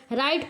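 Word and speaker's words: write: आपका कलाई होता है तो यहां देखिए डब्लू साइलेंट है यहां आर से पढ़ते हैं रिस्ट हो जाएगा राइट पढ़ते हैं ना कि डब्लू से राइट पढ़ते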